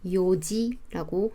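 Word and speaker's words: 四時: 4는 원래 용 또는 시라고 하는데 둘도 아닌 요지라고 합니다.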